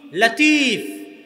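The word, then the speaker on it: لطيف: তাহলে আব্দুল লতিফ নামে নাম আছে মানে লতিফ আল্লাহর নাম। কিন্তু সঠিক উচ্চারণ হচ্ছে লাতিফ। সঠিক উচ্চারণ কি? লাতিফ। লতিফ এটা সঠিক উচ্চারণ নয়। লাতিফ হচ্ছে সঠিক উচ্চারণ।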